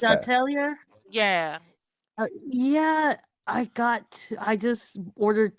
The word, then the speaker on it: Atelier: Luckily, remember I told you I got into that game called Atir? Mm-hmm. Atir, I think that's how you pronounce it. I'll Well, tell you. it's Yeah. Atelier.